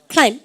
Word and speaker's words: climb: climb. B 발음 하는 순간 와보면 바보예요. 아시죠? climb입니까? climb입니까? climb. 쌤 표해볼까요? B 발음 하지 마세요.